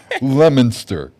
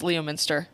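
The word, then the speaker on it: Leominster: Lemonster. Lemon. Lemonster is hell. Leo Minster. Leo Minster. I used to think it was Leo Minster when I was a kid.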